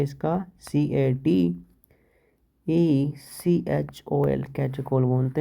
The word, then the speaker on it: catechol: CATECHOL, कैटेकोल बोलते हैं इसको।